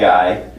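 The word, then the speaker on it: goy: plural or the uh g-o-y in English and uh it's pronounced as guy so when you say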